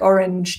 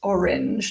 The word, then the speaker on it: orange: we have juice like orange juice orange juice which is pronounced orange not orang orange juice so juice